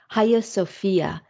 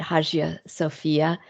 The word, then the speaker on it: Hagia Sophia: and it is titled ha Sophia that g is silent although I've always pronounced it haia Sophia um the high Sophia is what I think